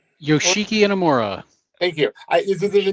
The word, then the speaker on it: Inamura: Inamura? Yoshiki Inamura.